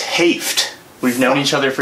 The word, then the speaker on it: Hoeft: No, it's Hoeft. It's Hoeft. We've known each other for so long. Fuck. That's all good. It's German and it's O-E, so it looks like ho.